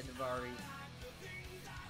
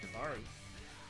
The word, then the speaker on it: Daivari: Apollo Crews, Aria Daivari. No, it's pronounced Daivari.